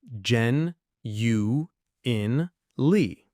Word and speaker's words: genuinely: This is a bit longer, so let's break it down syllable by syllable. Ooh, this one sounds like fancy, but it's really useful. It is. We'll go slow. Jen U in Lee. Gen U in Lee.